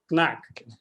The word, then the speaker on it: Knaack: in the german language we are pronouncing the k before the n so the right pronunciation is knack yeah i was i